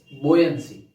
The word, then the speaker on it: buoyancy: Okay, इसको pronounce ठीक से करना है। What it इज? इट्स बोयंसी, BUOYNCY।